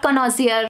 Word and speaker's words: connoisseur: Connoisseur, not connoisseur, connoisseur.